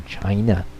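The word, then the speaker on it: Qin: we now use for China seeing is pronounced chin yeah so going back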